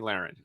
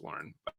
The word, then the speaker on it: Lahren: By the way, I need to say her name right. I fuck it up every time. Tomi Lahren. Okay. And I will probably mess it up during this interview because in my head it's Lauren.